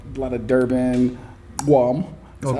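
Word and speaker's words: gqom: Like a lot of Durban, Guam.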